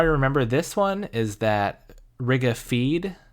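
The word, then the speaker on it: Riga-Fede: this one is that Rigga feed if it's spelled fe de but pronounced F EE D Rigga feed may cause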